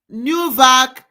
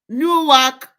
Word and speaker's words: Newark: So this uh news is um Newvac, New Jersey, USA.